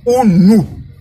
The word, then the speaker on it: unu: Et ça se prononce unu. Voilà, donc UNU.